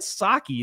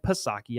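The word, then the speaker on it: Psaki: are butting heads jen saki then tweeted this thing out at like 11 o'clock weird on sunday night jen saki the white house press secretary jen pasaki i don't believe in silent letters um tweeted this for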